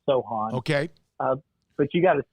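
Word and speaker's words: Sochan: It's pronounced Jeremy Sohan. I got verification of that. So S-O, like the C is silent. So it's Sohan.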